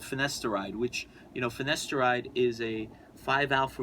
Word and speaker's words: finasteride: Well, sometimes it's multiple drugs that you'll prescribe, because I'm on finasteride.